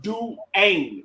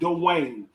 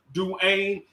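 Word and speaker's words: Dejuan: the u note though it's french actually to be honest with you it's pronounced do ain't not dwayne it's pronounced but people say dwayne's saying it real fast but it's pronounced do ain't and now and d1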